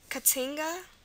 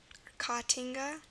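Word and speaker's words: caatinga: the a sounds really there's only two words in Portuguese with a a so two words that utilize a a a double A for the a sound and those two words are katinga katinga like that and copy c a a p i so with the exception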